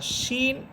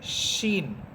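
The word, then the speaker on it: شين: আর শিন এটা হচ্ছে জিহ্বার মধ্যখান উপরের তালুর সাথে লাগবে, শিন, শিন। আর শিন এটা বাংলাতে এটা তালব্য এর উচ্চারণ হবে।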